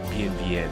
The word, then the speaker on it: Bienville: Actually, Bienville, that was how to be pronounced.